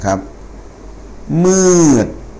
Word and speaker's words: มืด: ครับ อ ต่อ ไป ม ม้า สระ อือ อ ด เด็ก นะ ครับ อ เอ็ม อือ อือ นะ ครับ มืด นะ ครับ ม อือ มืด นะ ฮะ นะ ครับ